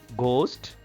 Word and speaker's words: ghost: Ghost, whiteness, bright, through. H is silent here in ghost.